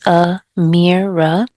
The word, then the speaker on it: Amira: I put the name here, teacher Amira, and I also put the pronunciation. So it's a mirror.